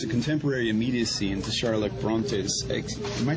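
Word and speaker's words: Brontë: contemporary imacy infus a contemporary immediacy into Charlotte brontes am I pronouncing that correctly brontes yeah brontes Timeless classic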